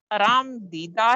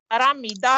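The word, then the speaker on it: آرمیدہ: اجڑی ہوئی دلی میں آرام دیدہ ہے، یہ لفظ آرامیدہ ہے۔ گلشن ویمر میں تیرا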